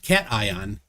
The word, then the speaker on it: cation: And when I told him it's pronounced cation, he didn't even know what that meant.